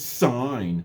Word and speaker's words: sine: in our mathematics but we don't see that as sin it's sign no it's s-i-n it's